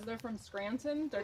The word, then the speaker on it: Scranton: And you know I'm from Scranton because I don't say Scranton with a T. If you're really from Scranton, you don't say the T.